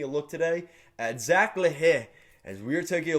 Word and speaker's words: L'Heureux: And let's take a look at Zach LaHaye. So let's get right into it. So yes, that is how you pronounce his name.